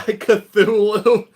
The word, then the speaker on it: Cthulhu: So this is just how you pronounce the name. I think we kind of all know. You were summoned by Cthulhu.